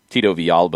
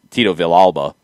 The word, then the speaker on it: Villalba: to be understood but if i call a player tito v alba or tito v alba instead of saying tito villalba yeah then that's just mispronouncing it that's a difference so